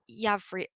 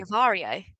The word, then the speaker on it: Yavrio: And how long ago did you start Yavri? I said it wrong earlier, didn't Yavrio, I? I yeah, said no, Yavario.